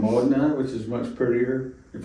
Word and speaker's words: Modena: They all come from the Americans say Modena. Right. It's Modena, which is much prettier.